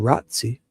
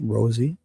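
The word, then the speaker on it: Rozzi: And I pronounce it Rosie, like the rose, like a kissed fry thorn from a rose.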